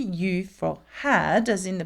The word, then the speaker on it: eu: Well, past participle the past participle of avoir is u u and it is spelled e u. Okay. Though some of you might say what I thought eu together makes the sound uh it doesn't in this context.